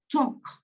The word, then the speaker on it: talk: Cuando yo combino las letras A, L, K, las letras, se traducen en el sonido OK. O sea, eso se pronuncia walk. Esto se pronuncia talk, no talk, por ejemplo.